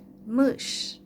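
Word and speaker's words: мышь: Például a műs, az azt jelenti, hogy egér, műs. És az S mással hangzó, azt mindig keményen kell ejteni, műs, egér, tehát lágy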